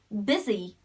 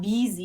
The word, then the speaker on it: busy: it sounds like it like when we say busy busy and it's not easy okay a lot of people especially fellow citizens of mine mispronounced this it's not bz it's busy very short business busy and sometimes